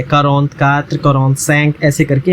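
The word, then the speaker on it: quarante: 40 is pronounce like कारोंत, ये इसकी spelling है कारोंत, ठीक है, कारोंत।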